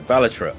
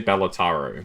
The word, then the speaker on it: Balatro: Balatro. Balatro. That's what I say. No, I say Balat. Yeah, you say Balataro, which doesn't make any sense.